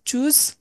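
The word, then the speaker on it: Tschüss: বিদায়ের সময় সবচেয়ে কমন যেটা সেটা হচ্ছে চুজ উচ্চারণটা হচ্ছে চুজ আমরা উমলা উটগুলা কিভাবে উচ্চারণ করে এগুলো আলফাবেট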